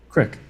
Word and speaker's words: creek: Just like a creek is Creek. Creek. Yeah. Crick.